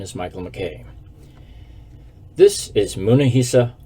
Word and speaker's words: Munehisa: michael mckay this is munahisa houma which in japanese is pronounced munehisa go figure he was